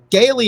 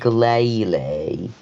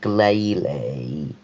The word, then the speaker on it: Glalie: Wait, did you just say Gaily? Yeah, that's how you say it, Gaily, right? It's Glalie. Like Glaive Rush. Glalie.